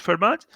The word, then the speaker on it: Fermat: spelling is fer MIT but it is pronounced Fermat so firmers difference for